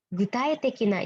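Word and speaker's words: 具体的な: Gutai tekina ini berarti gu juga ya, semua gu bacanya.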